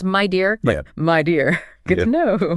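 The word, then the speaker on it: Meda: Oh, and just a practical point, the sources mentioned the pronunciation of media. It's pronounced my dear.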